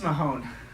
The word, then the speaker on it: Mahon: Miss Mahon, I don't think you understand what it Mahon! ta- What? My name is pronounced Mahon. I've said it 100 times.